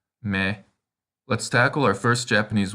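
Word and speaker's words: み: This kana looks like a pretzel, and its sound is the same as the response you make when someone asks if you'd like a pretzel. Me.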